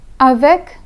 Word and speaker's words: avec: The C in avec is pronounced, but the C in estomac is silent.